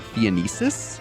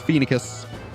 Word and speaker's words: Phoenicis: I used to, when I first played the game, I pronounced it Phoenicis, like Phoenician. But no, it's Phoenicus.